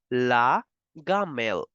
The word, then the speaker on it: la gamelle: And the rule simply stands for specifically I and E. Okay, not for vowels, just for I and E. So lunchbox will be pronounced as la gamelle.